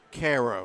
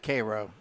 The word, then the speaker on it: Cairo: Cairo the syrup makers Koo it's Cairo the Georgia dog gave me the correct pronunciation well the guy that signs my paychecks from Georgia and he says Koo I said yes sir